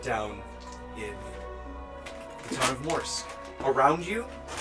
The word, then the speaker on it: Morsq: The T is silent. Shoot. Okay, so it's Mortimer then? Morsq.